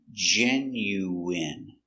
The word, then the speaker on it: genuine: genu w I genu genuine genuine genuine first syllable stress genuine genuine genuine let's